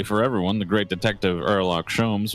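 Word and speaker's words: Herlock Sholmes: everyone the great detective erock shomes was on board the H is silent this time for some reason and the handcuffs seem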